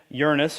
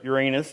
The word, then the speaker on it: Uranus: So Oxford researchers have been studying the planet Uranus, or Uranus, depending on how you want to pronounce it.